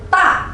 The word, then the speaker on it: da: Untuk DA teman-teman bacanya ta, ta.